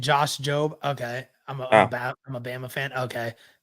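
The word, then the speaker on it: Josh Jobe: Oh, the E is silent and Josh Job.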